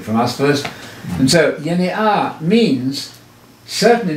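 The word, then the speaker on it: γενεά: The word yenea, that's the Greek word. I'm using the modern Greek pronunciation. I always say that on our videos. Yes. So we're not mispronouncing Greek words. The modern Greek pronunciation, yenea, that's the way they're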